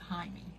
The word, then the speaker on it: Jaime: But they pronounce it Jaime.